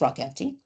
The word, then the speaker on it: ROCMT: So ROCMT, which I pronounce rock empty, it's very flexible because sometimes I'll be doing an interview for 10 minutes, but this is the basic skeleton.